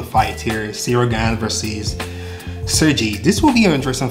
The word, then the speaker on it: Sergey: That's how to pronounce his name. Sergey.